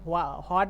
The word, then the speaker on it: what: আমেরিকানরা হ উচ্চারণ করে আর ব্রিটিশরা বলে ওয়াট।